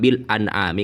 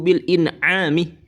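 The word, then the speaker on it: بالإنعام: Jadi yang benar itu bagaimana? Alladzi amma ibadahu bil inami bukan bil an'ami.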